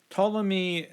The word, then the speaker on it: Ptolemy: Ptolemy, his name is spelled in kind of a weird way, but that's his name, Ptolemy.